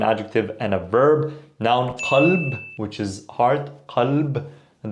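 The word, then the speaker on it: قلب: So these, qalb is heart, qareeb, close, qal, he said. Pronunciation-wise, this is not a K.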